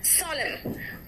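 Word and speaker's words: solemn: एन कहाँ साइलेंट है देखो तो, इट्स सोलेम, एन है लेकिन मैंने क्या कहा, सोलेम, ऑटम, हेम, मंत्र को हेम कहते हैं, हेम नहीं कहते, कॉलम, एन साइलेंट है ना।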